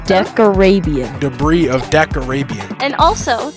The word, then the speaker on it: Decarabian: Debris of Decabarian. No, Decarabian.